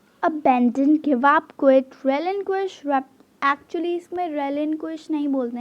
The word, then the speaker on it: relinquish: Actually इसमें रेलिंक्विश नहीं बोलते हैं इसे बोलते हैं रेलिंक्वाश। बट अगर आपको बोलना है तो आप बोल सकते हो, मैं जस्ट आपको समझाने के लिए ऐसे बोल रही हूँ, ठीक है। नहीं तो ऐसे इसकी प्रोनाउंसिएशन होती है रेलिंक्वाश, ओके।